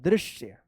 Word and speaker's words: दृश्य: ज न क आश्चर्यजनक दृश्य। देखिए दृश्य इस तरह से है, द्रि आधा श य दृश्य दिखाई दिया।